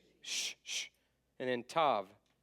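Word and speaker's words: תו: sh sh and then Tav T sound T sound all right that's your vow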